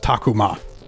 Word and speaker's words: Takuma: best of the best it's pronounced takuma like get it right you haven't watched enough